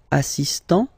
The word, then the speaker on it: assistant: Il est assistant. So don't pronounce the final T here, but for the feminine form, elle est assistante.